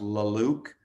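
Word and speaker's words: La Luz: you know stream them or something but it's pronounced la luke and that album is called sculptor sculptor i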